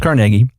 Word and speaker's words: Carnegie: People say Carnegie. It's pronounced Carnegie.